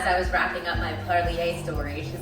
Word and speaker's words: Parlier: It's definitely Parlier.